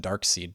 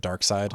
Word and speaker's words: Darkseid: You always, as kids, you always said Darkseid too, instead of Darkseid. Oh, which I think a lot of, it looks like phonetically. Yeah, a lot of people get that one wrong, but it's just like Darkseid doesn't sound cool.